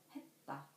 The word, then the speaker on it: 했다: For example, 했다, 했다.